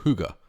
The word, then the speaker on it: hygge: The inspiration behind this recipe today is the concept of hygge, or hygge as it's pronounced in Danish.